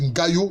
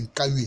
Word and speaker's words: Nkayui: Dans les traditions, ils disent Ngayo, mais en fait, c'est Nkayui.